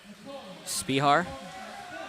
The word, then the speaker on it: Spihar: Spihar, as the pronunciation came in from the announcer. Thank you, because I apparently have been butchering that the entire game.